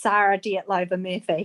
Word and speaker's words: Sarah Dietlova Murphy: Sorry, you've actually got my name wrong. It's Sarah Dietlova Murphy.